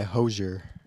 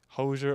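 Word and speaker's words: Hozier: That second song was Too Sweet by, there's controversy on how to pronounce the name. Do you want to? That one was Too Sweet by Hosier.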